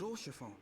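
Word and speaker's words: Haurchefant: Oh, Lord Oshafon. That's how you say Oshifon. That's how you say it.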